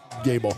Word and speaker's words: Gable: And how did we pronounce number 0? Gable? Gable. Thank you.